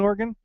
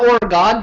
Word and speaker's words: Oregon: what would they say it's not Oregon Trail it's Oregon Trail let tell you I have to make an effort to say it wrong because I I I know that it really is Oregon and that's how I've always said it but um no it's Oregon but but but Kristen insists